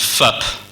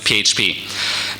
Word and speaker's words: PHP: PHP awesome I know what you're thinking it's pronounced FUP it's not it's not I looked it up it's PHP now the great thing about PHP is a